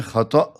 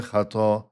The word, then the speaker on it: خطأ: خطا کہیں، تب بھی عربی اور اردو میں تلفظ میں فرق یہ ہوگا کہ عربی میں ہے خطا، آخر میں حمزہ ہے، جبکہ اردو میں ہے خطا، کہ لمبا جو الف ہوتا ہے، کہ خطا ہو گئی۔ کہاں گر گئی وہ عورت؟